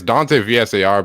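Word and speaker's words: Dante Vassar: you said dancers yeah it's dante vsar but you know it's like a playoff on my dad's last name so okay i got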